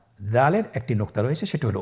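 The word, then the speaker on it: دال: উচ্চারণ করার সময় অবশ্যই 3 আলিফ টেনে পড়তে হবে।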